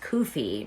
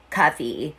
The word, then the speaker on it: Cuffe: Also, she was the one who told me his real name is pronounced Cuffe, not Cuffe.